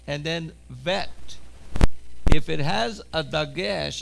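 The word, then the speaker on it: ב: says Bet and then Vet. If it has a dagesh, if it has a belly button, it's a bet. But if the same symbol does not have a belly button, it's a vet sound.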